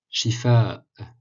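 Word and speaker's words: شفاء: Shifa, Shifa, kasra sous le sh, sous le shin, et hamza à la fin qui est comme un arrêt, un comment dire?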